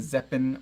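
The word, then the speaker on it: Zeapon: It's the Zeppin Micro 2. Zeppin spelled like weapon, but with a Z.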